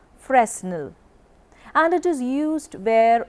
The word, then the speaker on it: Fresnel: of lens is called Fresnel lens commonly pronounced Fresnel and it is used